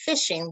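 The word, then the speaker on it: phishing: i explain that because it's pronounced fishing with like you would think with a pole what it means is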